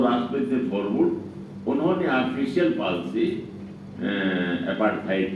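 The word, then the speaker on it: Verwoerd: थी राष्ट्रपति थे फरव जिनके नाम की स्पेलिंग आप लिखेंगे तो व वर्ड होगा ी ओ ई आर डबल आरडी लेकिन उच्चारण है फ तो वो राष्ट्रपति फरड उन्होंने ऑफिशियल पॉलिसी अपाइड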